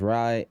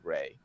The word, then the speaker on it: Rai: My name is spelled R-A-I, like the cool word for thunder in Japanese, but it is actually pronounced Ray.